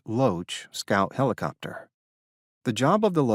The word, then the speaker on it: LOH: Army Rangers, a Cobra gunship, and a LOH, pronounced Loach, scout helicopter.